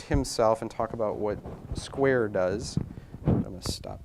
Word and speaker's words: Skvare: Despite its spelling, it's pronounced Square.